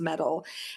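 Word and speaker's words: Mettle: an app called metal me ttle e though pronounced metal and it is the first and only uh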